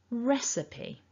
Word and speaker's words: recipe: chunks of sounds and the blue mark at the top left tells us that we want to stress the first syllable in this word so res is stronger it's a bigger sound so repeat after me